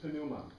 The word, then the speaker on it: pneuma: P-N-E-U-M-A-T-O-S. Pneumatos. Pinematos. Pinematos. The Greeks pronounce the P, which we don't, right? We drop consonants where we want, right? Pinatos. But this is pneuma.